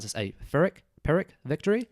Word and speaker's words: Pyrrhic: said it's a, I don't know how to pronounce this, a Pyrrhic victory? Pyrrhic. Yeah. Pyrrhic victory, P-Y-R-R-I-C.